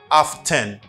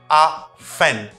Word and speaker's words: often: six people usually say often often it's not often it's often often do not pronounce letter T if you are practicing American accent a no often for